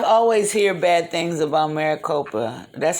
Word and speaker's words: Maricopa: know um i've always hear bad things about maricopa that's how you say it yeah yeah there's